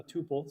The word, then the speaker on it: tuple: Uh tuple, sorry, versus uh data class. I always say tpple even though for years I know it's tuple but I learned it as tpple and I still say it wrong.